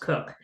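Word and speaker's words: Koch: you an example Christina cook k-o-c-h but pronounced cook she's on the Artemis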